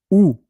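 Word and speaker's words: houx: Laurier, ou. We don't we don't pronounce the H. So in English, you would say holly, but in French, ou.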